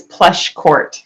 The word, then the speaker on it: Pleschourt: name yes I can it's plush court so two syllables plush Court okay so that's